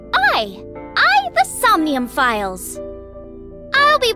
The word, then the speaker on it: AI: whoa hey I some new files oh it's pronounced I I the somnium files I'll be playing on the